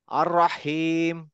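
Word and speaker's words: الرحيم: মোশারফ ভাই বলেন তো রাহমান রাহমান আর রাহমান আর রাহিম আর রাহিম মুশারফ ভাই বলেন রহিম রহিম হ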